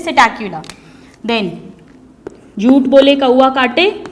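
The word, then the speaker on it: Psittacula: यहाँ पे जो सिटैक्युला की स्पेलिंग है स्टूडेंट्स, इसमें पी साइलेंट है, इसे हम प्रोनाउंस करते हैं सिटैक्युला।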